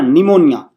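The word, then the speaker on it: pneumonia: में दिक्कत है की पी पी साइलेंट है यहां पे पीस आइलैंड तो कौन सा बना निमोनिया कौन सा है डिजीज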